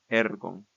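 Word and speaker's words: ἔργον: Y cuando el acento agudo está en la penúltima sílaba, este acento permanece invariable en toda la declinación.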